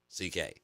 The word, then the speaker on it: C.K.: It's spelled Selkie. So to help us out, it's pronounced C.K.